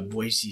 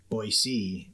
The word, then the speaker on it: Boise: to set the stage for this election uh Boise city was did I say that right boy